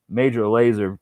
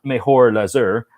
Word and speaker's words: Major Lazer: Don't ask me to pronounce major laser. Well, I know how to say it now, but yeah, no, it's not mejor laser, like some sort of idiot. It's major laser.